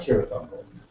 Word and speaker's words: Cirith Ungol: Interesting spells Cirith here with K instead of a C, which later Isn't it, is it it's pronounced Cirith Ungol, but he later changes that to a He C.